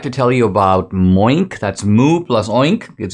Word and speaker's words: Moink: and I'd like to tell you about Moink.